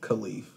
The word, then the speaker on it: Kyleif: So my name is pronounced Kyleif. Mm-hmm. Never knew it. But the way it's spelled, I get why he said. I've been saying for years.